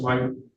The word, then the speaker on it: Leitner: I get the pronunciation correct, Ms. Leitner?